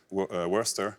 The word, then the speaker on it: Worcester: qui sont très bizarres, parce qu'il y a un C-E-S-T-E-R, mais C'est ça ça. se prononce en une seule syllabe. Alors, redites-le nous. Leicester, Worcester.